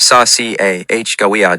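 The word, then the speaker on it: Sacagawea: The coins, the saka, pronounced sash ci ah gawa dollars, are golden dollars made of a copper core with manganese brass cladding.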